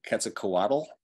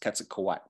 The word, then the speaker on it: Quetzalcoatl: of a NASDAQ word and it ends with that TL like Quetzalcoatl that's not all it's quetzukowai so I and then